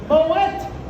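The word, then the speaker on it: Moët: into the champagne fortune and it is still pronounced boet like wet boet Shand whatever bar you're in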